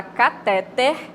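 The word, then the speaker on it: cateter: Então, vocês estão vendo aí, ó, a palavra catéter, a acentuação tônica é no final da sílaba, na última sílaba, né?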